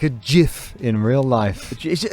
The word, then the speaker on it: GIF: gif or a gift it's definitely jif is it the man himself has who invented gifs has said gifs it's not a hard g see i didn't know